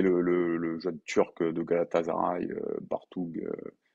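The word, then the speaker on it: Bartuğ: jeune turc de Galatasaray, Bartug, ça se prononce Bartou d'ailleurs, je me la pète en ce moment, on prononce pas le G, Elmaz, pardon, va probablement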